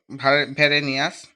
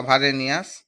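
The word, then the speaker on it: Varenius: বার্নহার ভ্যারেনিয়াস বা ভারেনিয়াস, যা উচ্চারণ করতে পারো, 1622 সালে ভূগোলকে কি বলেছেন?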